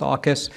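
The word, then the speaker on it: AUKUS: for asking so uh Aus is uh one of our latest Partnerships uh treaty alliances we have with Australia the United Kingdom and the US uh pronounced AAS we've got several others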